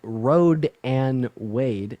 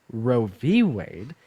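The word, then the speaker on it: Roe v. Wade: here first of all it's not called rad and Wade it's called roie Wade and second all pronouncing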